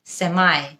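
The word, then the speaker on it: semi: একটা American সেমি নাকি সেমাই দুটোই কারেক্ট সেমি হলো ব্রিটিশ উচ্চারণ এবং সেমাই হলো আমেরিকান উচ্চারণ ইটস সেমি সার্কেল ব্রিটিশ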